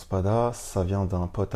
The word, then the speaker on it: SPVDV: fait le mot donc c'est Spada ça se prononce Spada ça vient d'un pote à moi qui s'appelle